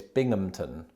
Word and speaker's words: Binghamton: be bim hamilton no according to wikipedia it's binghamton is it binghamton is that real anyway the impossibly hard to pronounce city of bimington in new york was